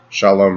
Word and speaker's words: shalom: So perfect peace in Hebrew would be pronounced shalom shalom.